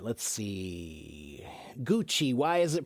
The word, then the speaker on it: Gucci: Gucci. Why is it pronounced that way? Wid, that's a that's Italian. In Italian, they often have a the C is a is often a ch- sound.